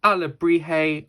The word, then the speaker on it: alebrije: j in it it might look difficult to pronounce but our Liberty is a word so this is our ala brijay otter ready to join the world of Coco